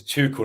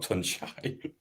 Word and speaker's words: Tuchel: It's Tuchel, not Tunchai. Tunchai.